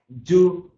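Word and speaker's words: doux: Sec, yes, is sec is a dry, demi-sec is a medium dry, du is sweet. Du, D-O-U-X, you don't pronounce it as a dux, you pronounce it as a du, which is a sweet.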